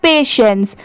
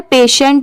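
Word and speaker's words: patience: बहुत सारे लोग इसे गलत प्रोनाउंस करते हैं। बट इसकी सही प्रोनाउंसिएशन क्या है? पेशेंस। यहां पर पेशेंट नहीं पढ़ेंगे। पेशेंस। यहां पर पी ए पे हो गया। टी आई ई एन सी E sense हो गया।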